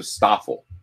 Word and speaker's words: Stoffel: Awful waffles for Stoffel. Okay, so Stoffel.